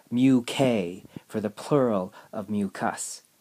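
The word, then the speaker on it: μk: full responsibility for it so this is actually pronounced mu k and my joke would be is like if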